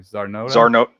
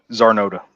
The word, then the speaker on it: Czarnota: Zarnota. Zarnota.